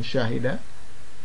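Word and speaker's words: شاهد: We're going to put the dhammatan, although we're not going to pronounce them. So it becomes shahid.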